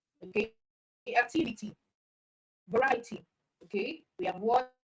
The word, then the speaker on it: variety: Okay activity all right the same for variety okay it's so the stress is on right okay variety and then for probability